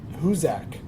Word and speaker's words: Hoosac: of Massachusetts um well how how do you pronounce it hak hak oh in Massachusetts uh and it's about